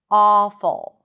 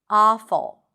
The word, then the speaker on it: awful: Awful. And like I said, you can even relax your lips and pronounce it more like an open a sound. Awful.